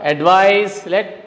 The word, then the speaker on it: advise: Advise. Listen to me carefully how I am pronouncing these words. Advise, muse, rise, praise, fuse, wise, busy. Means in all these words, S is pronounced as Z.